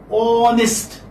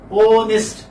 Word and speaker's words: honest: And this is not honest, this is honest. Okay? Honest.